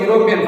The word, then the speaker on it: European: The indefinite article A is used before a vowel pronounced with the sound of a consonant. Actually, here the word is European.